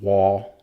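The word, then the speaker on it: Waugh: I believe his name is actually pronounced Wall, Seth Wall.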